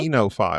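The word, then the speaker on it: oenophile: OENO and then file, PHILE. I listened to it on YouTube to make sure, and they said it's enophile.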